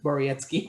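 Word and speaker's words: Borowiecki: out that polish name that i couldn't uh pronounce uh mark borietzky borietzky thank you matt benning from the oilers nick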